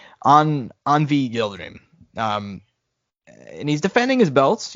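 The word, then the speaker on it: Avni Yıldırım: Turkey by the name of how do you pronounce his name? Anvi Yildirim.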